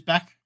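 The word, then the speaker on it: Bech: I think it's how you pronounce it. It is Beck.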